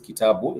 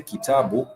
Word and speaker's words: kitabu: you would simply say kitabu, and you realize that is three syllables, ki-ta-bu. 3 syllables, ki-ta-bu. And those 3 syllables, they have alternating vowel sounds. The ki has the e vowel, and the ta has the a vowel, and the bu has the u vowel.